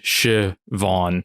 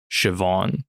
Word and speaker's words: Siobhan: v a WN H it says English pronunciation shiv Von with the emphasis on vau so shivon okay so I think you